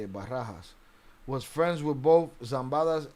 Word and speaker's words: Barajas: Barahas was friends. Yeah, that's how you say it. Barahas was friends with both Zambadas and Chapos.